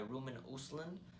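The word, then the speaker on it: Ruben Östlund: film is I think written and directed by Roman usland that's how you pronounce his name who directed the film play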